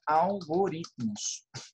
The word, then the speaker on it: algoritmos: Mas o T é mudo, então não é uma sílaba. Então, fica algoritmos. Tá? Porque aqui, ó, paroxítona, vira uma paroxítona, algoritmos.